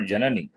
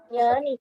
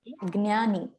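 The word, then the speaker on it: ज्ञानी: It is not Janani. Janani. Janani. Not Janani also. Jnani. Gnani. It's Jnani. Don't add a letters A, okay. In English, we cannot add letter, but we can remove, there are silent letters are there. Knowledge, K is silent. But here it is Jnani only. You have to read it as a Jnani. Either it can be G or it can be J. Jnani. Okay, not Janani.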